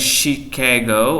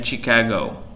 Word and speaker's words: Chicago: Cara membacanya ada yang Chicago, ada yang Chicago.